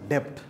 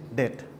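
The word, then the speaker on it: debt: আর my students so don't pronounce this age ডেপথ ইট ইজ ডেট হ্যাঁ সো ডেট হচ্ছে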